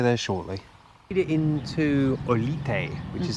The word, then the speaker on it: Olite: Made it into Olite, which is how you pronounce it.